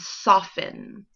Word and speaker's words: soften: So look for 3 other words that have the silent T. When you find them, come back to the lesson. All right, hopefully you found them. Put them on your chart. Let's check and see if you've got the right words. You should have found listen, glisten, and soften.